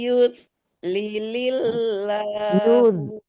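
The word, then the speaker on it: يُضْلِلِ اللَّهُ: Jangan lilil ya, satu lamnya tasdid yang di depannya. Oh iya. Wa may yudlilillahu Bukan yus. Yud bot. dot ya.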